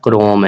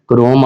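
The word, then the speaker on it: Chrome: वो कौन सा, क्रोम है। इसको स्टूडेंट्स गूगल क्रोम भी कहते हैं, ये गूगल क्रोम नहीं है, ये गूगल क्रोम है, एच साइलेंट है, ठीक है।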